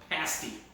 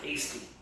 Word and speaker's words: pasty: And it is pronounced pasty, not pasty.